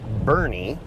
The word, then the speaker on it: Boerne: manager at AutoZone that this town is pronounced Bernie so I will fix that now this is Bernie Texas where we picked